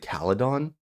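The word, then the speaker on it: Calydon: AR wait they they they pronounce it cadon okay they own a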